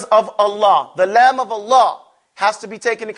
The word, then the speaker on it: Allah: Lovers of Allah, the lamb of Allah, has to be taken into consideration. It has its own pronunciation. When you say Allah, say Allah.